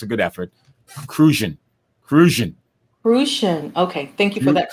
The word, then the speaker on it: Crucian: Crucian.